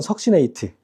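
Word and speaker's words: succinate: 석진산이 우리나라 말은 좀 이상한데 영어로는 석신네이트 어 석신 네이트라고 해서 AT가 들어가는 건데 그래서 어떤 뭐 교재 보면 숙신산이라고도 나와 숙진산 나 숙신산 보고까 빵 터졌는데 영어로 이거야 숙신네이트 이걸 숙 발음이 유리니까 발음난 데로 숙지 숙이라고 쏘는 거야 어 숙보고 내가 깜짝 놀었다.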